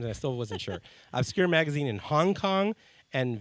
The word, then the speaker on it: Obscurae: Magazine UK, Phoenix Magazine, Phoenix Home and Garden, Obscurae, did I say it right? Yes. See, I asked 3 times and I still wasn't sure. Obscurae Magazine in Hong Kong, and Veux Magazine in Toronto, amongst others.